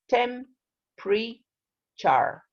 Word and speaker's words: temperature: nutrients yeah right now here this word is temperature the pronunciation is tem pre-char temperature temperature that's right don't say temperature right